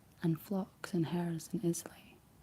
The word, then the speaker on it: Islay: Islay seems to be the standard sound.